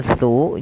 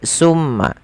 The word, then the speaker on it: tsumma: Teman-teman hati-hati di dalam melafalkan tsu. Jangan sampai kita membacanya dengan sin dengan pakai su gitu ya. Pakai summa. Karena kalau kita merubah dan menggantinya maka maknanya berubah. Hati-hati juga jangan sampai terdengar dengan baca summa summa dengan syin ya. Akan tetapi itu adalah huruf tsa. Bagaimana pelafalan huruf tsa? Huruf tsa ini tempat keluarnya adalah ujung lidah bertemu dengan gigi seri atas.